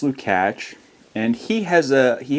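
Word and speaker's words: Lukács: Lukak, but it's pronounced Lukatch.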